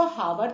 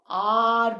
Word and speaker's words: hour: Though the spelling it begins with H, which is a consonant, but when we pronounce it, हम इसको हावर तो नहीं बोलते, हम इसको आर बोलते हैं.